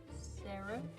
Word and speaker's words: seraph: She is a freeborn skykin seraph. Yes. Yeah, that's how you pronounce it.